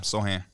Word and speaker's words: Sochan: After you just got Jeremy Sochan, it's possible. I don't know. You said it right the first time, Sohan.